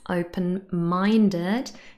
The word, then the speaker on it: open-minded: And last but not least, open-minded. This is a compound adjective, and compound adjectives are usually stressed on the second word. And here, minded is stressed on the first syllable. So in total, open-minded has the stress on the third syllable.